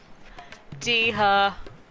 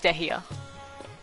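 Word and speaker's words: Dehya: Deha. Oh wait, no, it's Dehia. I think. I'm already forgetting how the lady pronounced it.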